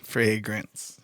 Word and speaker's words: fragrance: I said fray and then nance. No, Fragrance. John, listen, please. I'm sorry. John, okay. Grants. G-R, bro. Grants. It's not Gantz, it's Grants.